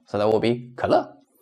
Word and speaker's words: 可乐: so that will be 可乐, 可乐. So we don't pronounce the full third tone. It's the semi-third tone, just a quick well, so that will be 可乐.